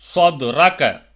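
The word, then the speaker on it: صدرك: சொத்ரக, சொத்ரக, சத்ரகன்னு படிக்கக்கூடாது. சொத்ரக, ஸ்வா.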